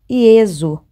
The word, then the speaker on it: Jesus: em alemão por exemplo o nome de Jesus frequentemente aparece como Jesus pronunciado ieso som fechado do original Yeshua Yeshua no